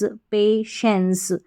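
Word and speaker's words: patience: सी ई को एंस पेशेंस पेशेंस का मतलब धैर्य यहां पर टी आई जो आ रहा है पेशेंस में इसका उच्चारण श है ना कि टी है ना टाई है इसको श पढ़ेंगे पे और फिर श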